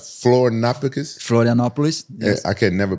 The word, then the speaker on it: Florianópolis: We went to, how I pronounce Florianópolis? Florianópolis.